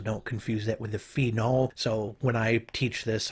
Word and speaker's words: phenol: So when I teach this, I often times try to really over pronounce that name. So I'll say phenol and phenyl, trying to make sure that I'm distinguishing between those two things as much as possible.